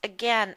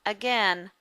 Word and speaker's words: again: We pronounce them again with the short E sound and fasten without the T.